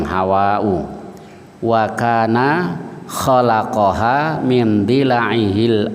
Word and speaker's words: Hawa: Jadi Hawa itu bacanya panjang, Hawa'u.